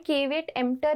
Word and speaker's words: caveat emptor: caveat emptor इसका pronunciation है और इस मैक्सिम का मतलब क्या होता है अब ये जानने की कोशिश करते हैं.